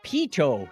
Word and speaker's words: Pitot: Steve Webb says it's Pitot tube, not Pitot.